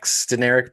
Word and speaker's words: Deneric: The first thing I'll say about him is it's actually pronounced Deneric Prince.